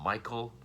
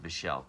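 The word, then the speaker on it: Michele: I always called him Michael. I thought it was just spelled differently. I guess it's Michelle, spelled the same way as the husband in this, which the husband was played by.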